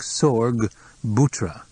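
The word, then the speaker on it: Sorgbutra: mentioned a name that sounded like Sor bhra spell it quillin asked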